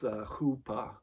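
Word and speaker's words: chuppah: the the jewish um it looks like it's spelled out chupa but um from what uh i recognize it it's pronounced hoopa and and so basically this hoopa is for the lack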